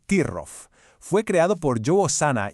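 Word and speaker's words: troff: Y el gran protagonista de esta historia es Trof, que se pronuncia Tirrof.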